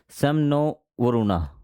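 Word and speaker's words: शं नो वरुणः: है contain a मोटो समनो वरुणा ठीक है प्रोनाउंस सेम नो वरुणा उसको बोला जाता है यह जो मोटो है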